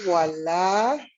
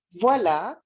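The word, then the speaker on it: voilà: And here we have voila. Voila, by the way, is spelled Voila. The OI in French is pronounced as like with a W.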